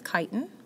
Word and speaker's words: chitin: It is not pronounced chitin. It is chitin.